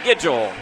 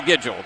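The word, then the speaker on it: Nguidjol: bo diddly but bo giggle now if you if you wonder how that happens the n is silent in his name it's n-g-u-i-d-j-o-l but it is pronounced schedule and you hear mike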